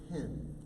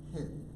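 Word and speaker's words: חֵן: You know, interestingly enough, the word grace in Hebrew is the word hin. It looks like chin, but it's actually pronounced hin.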